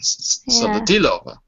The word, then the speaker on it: Solodilova: Well, the stress is on the let me see. On the D. On the D. Solodilova. Yeah, that's right. You're perfect. Thanks. Because the first O is always an A in Russian.